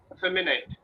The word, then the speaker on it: effeminate: it in our game effeminate effeminate we call it effeminate so initially FM and net there are four syllables so we say FM in it not neat net feminine yes yes and